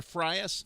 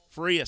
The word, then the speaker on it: Frias: here to freyas vladimir freyas freyas frias sorry rhyme's a prius i'll remember it now